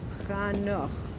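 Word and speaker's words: חנוך: Chanoch. Enosh. Who is Enosh? Okay, right. This guy is the mortal guy. What generation is he? The third. Stop right there. Okay, and Chanoch is translated into Enoch, but what is the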